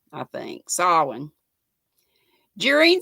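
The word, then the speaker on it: Samhain: pond call halloween and it's not pronounced anything like it looks spelled s-a-m-h-a-i-n but pronounce salwin like a pig sal or is it saw sawin i think sawin during silent what did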